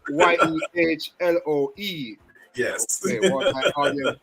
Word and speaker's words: Yehloe: So it has nothing to do with any colors. Yehloe.